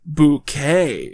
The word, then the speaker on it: Bucket: events of the series she's apparently decided that it's actually pronounced bouquet it's very kind of you to invite us Mrs bucket okay the characters catchphrase